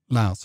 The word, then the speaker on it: Laos: he bombed cambodia and laos laos i believe it's pronounced um and he did